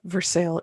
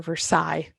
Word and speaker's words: Versailles: for going to uh versailles indiana or versailles if you want to pronounce it correctly we're going with right